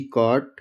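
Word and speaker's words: caught: एच दो, सी ए यू जी एस टी कॉट, बी ओ यू जी एस टी बॉट। इसमें यू जी दोनों silent.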